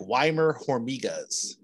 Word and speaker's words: Weimar Hormigas: to you and i said how do i pronounce the name of this town and you're like weimer jormigas right from there you guys welcomed me in